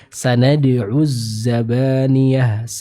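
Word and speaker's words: سندع الزبانية: Misal kita ambil contoh di ayat 18, huruf zainya bertasydid, maka akan ada suara yang dialirkan. Sanad'uz zabaniyah. Jadi bukan sanad'uz zabaniyah, tapi dialirkan terlebih dahulu suaranya secara sempurna dari huruf zai ini. Sanad'uz zabaniyah.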